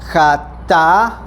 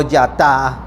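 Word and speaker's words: חטאת: Eh, con K eh se pronuncia jata o yata.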